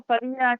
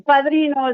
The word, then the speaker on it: Padrino: Eduardo Padilla Chacón. Chacón Padrino. Señorita. Oh. Okay. It's Padrino is the last name.